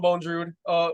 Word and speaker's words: Bondrewd: So I think it's pronounced Bondrewd.